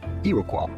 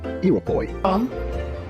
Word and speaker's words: Iroquois: The name and the word itself is originally French, and in French it is pronounced as Iroquois. Iroquois. However, in the United States, this word is usually pronounced as Iroquois.